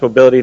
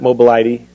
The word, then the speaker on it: mobility: Um it's pronounced mobility, not mobile ID.